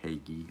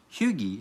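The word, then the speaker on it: hygge: basically American's version of Hagee, or Hughie, as I learned how to pronounce it. Huga, something like that. Somewhere in that realm.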